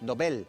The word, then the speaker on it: Nobel: Hay una regla que tiene el castellano con respecto a los apellidos que son de otras lenguas. y es que hay que mantener la pronunciación del lugar de origen. Y él era Alfred Nobel. Entonces el premio es premio Nobel. Entonces eso significa que es una palabra aguda, que el acento lo lleva en la E.